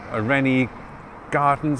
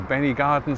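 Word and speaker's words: Bennie Gardens: this plaque now and there is a renie Gardens I think or Benny Gardens sorry which is named after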